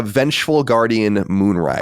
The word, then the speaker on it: Vengeful Guardian Moonrider: Big, how do you pronounce it? What do you say? It's a Vengeful Guardian Moonrider.